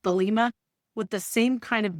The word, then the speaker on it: Thelema: I'm probably really mispronouncing that. Thelema, I think is how it's pronounced, Thelema, with the same kind of manic, all-consuming intensity he brought to literally everything.